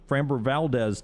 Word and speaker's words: Framber Valdez: and framber is that i say his name framber valdez yep framber valdez tonight the braves with a huge advantage in